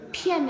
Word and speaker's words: 片: Từ pian là bật hơi nhá.